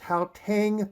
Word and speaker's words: Gauteng: have Arisen from the I believe it's pronounced how Tang Province this is one